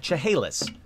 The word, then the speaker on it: Chehalis: learn along with me all right wasn't too bad cha haleyss Chehalis Hills Chehalis Native